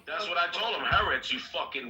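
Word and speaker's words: Haaretz: publication is a news is a news it's pronounced haret you idiot that's what I told him haret you white yeah it's just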